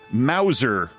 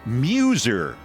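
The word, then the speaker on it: Meuser: And I'm thinking I'm mispronouncing it. Yes, I am. It's it's Muser. me s Muser.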